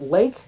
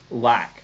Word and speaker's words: Laque: Bobby Joe went with what did we decide? Lake? Lack.